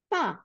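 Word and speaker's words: ت: দেখেন, বুঝতে পারবেন যে তা যখন আমরা উচ্চারণ করতেছি তখন কি হয়? টিপ অফ দ্য টাং, আমাদের আগাটা, টাঙের জিহ্বার আগাটা আমাদের দাঁতের পিছনে আসতেছে।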